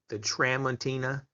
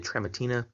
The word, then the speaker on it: Tramontina: This is the Tramontina, I believe that's how you say it, the Tramontina Bolo style machete.